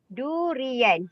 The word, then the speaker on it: durian: Durian, same. Okay. Durian. Durians in English, durian. 3 syllables. Durian.